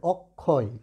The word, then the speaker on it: অক্ষয়: এই অ কিন্তু বিবৃত থাকবে, তাই এটার উচ্চারণ কিন্তু হবে অক, ঠিক আছে? ক্ষয়, ঠিক আছে? অক্ষয়, এটার উচ্চারণ হবে অক্ষয়।